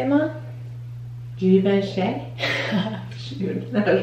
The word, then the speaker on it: Givenchy: Givenchy. Shoot, that was wrong. I want to say Givenchy.